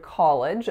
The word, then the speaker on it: college: not your intention so in the word college there are two syllables the first one is call so K going into a low back or open vowel and then the second syllable is L schwa and then just would would where did